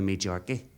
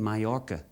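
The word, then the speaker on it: Majorca: He said, "To tell you the truth, Roy, I was supposed to go to Major." I said, "You mean myca? The J is silent."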